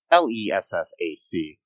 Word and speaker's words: Lessac: Michael Lessek, I don't know if I'm saying that right. It's Lessac.